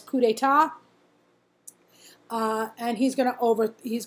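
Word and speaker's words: coup d'état: right of the slide it looks like it says coupe date but it's actually pronounced it's French word it actually says coup d'etat and he's gonna over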